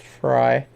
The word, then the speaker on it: Frey: Robin Fry, it's spelled Frey, but it's pronounced Fry.